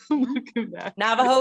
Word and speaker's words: Navajo: me being a navajo navajo is exactly how you say it yes um i wanted